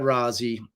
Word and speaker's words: Rozzi: It's because that's how you pronounce it. I'm Italian, for God's sakes.